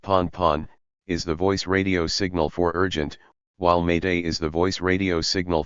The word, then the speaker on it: Pan: Pan, pronounced pon, is the voice radio signal for urgent, while Mayday is the voice radio signal for distress.